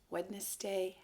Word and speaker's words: Wednesday: Remember, Wednesday has a D here, not an N. So when you enunciate it, that means when you pronounce it, you have to be very clear in your mouth so you say it correctly.